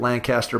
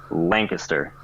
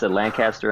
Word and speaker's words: Lancaster: head coaching position was how to pronounce the name Lancaster. I said Lancaster in my interview, and I thought I was going to lose the job. The people in Lancaster, Pennsylvania want you to say their city the right way.